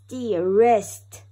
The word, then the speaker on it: wrist: rap w-r-a-p rap er rap er wrist w-r-i-s-t wrist er rest very good let's do it again